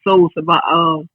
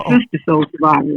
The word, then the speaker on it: SISTA Soul Survivor: You said Soul Survivor. It's SISTA Soul Survivor.